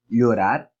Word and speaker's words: llorar: Eu sempre recomendo que você utilize um som de LH, porque fica muito mais fácil também. E vários dos países aqui da América Latina utilizam essa pronúncia. Então, poderíamos falar, utilizando como referência o LH, llorar, llavero, llanura, consequentemente.